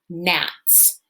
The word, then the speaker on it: gnats: see g n okay where the g is silent and the n is the one that makes a sound so you know those